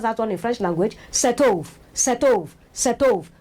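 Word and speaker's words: cet œuf: Setov, setov, setov. When you link it, you will see that T, the last letter there, will link with a vowel sound also.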